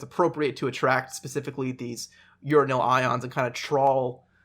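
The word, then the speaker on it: uranyl: for that i was gonna ask uh yeah it's spelt u r a n y l okay so it's not urinal it's uranil or yeah it's you gotta you gotta say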